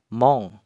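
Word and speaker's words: 門: Kemudian untuk ongyominya adalah mong. Cara pakai kanjinya gimana? Langsung saja. Nah, di sini saya kasih dua contoh saja ya, minasang. Jadi ketika kanji gerbang berdiri sendiri seperti ini, dia dibacanya bukan kunyomi ya, dibacanya ongyomi, yaitu mong.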